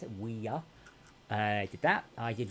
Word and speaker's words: Ouya: How you pronounce it? Ouya.